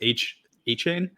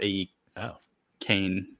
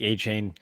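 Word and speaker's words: Achane: This time it's A-Chain. Yeah. I think he actually changed the way he wants it pronounced. There was like a something released. I think it's A-Can now, or A-Cane. So something like that.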